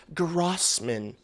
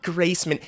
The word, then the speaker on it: Grossman: It's Grossman. It's not Graceman.